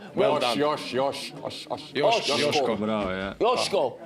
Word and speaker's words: Joško: Correct pronunciation is? Joško. Well done. Joško.